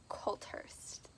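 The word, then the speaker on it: Coulthurst: five is of fire and stars by audrey culthurst there we go said it right and this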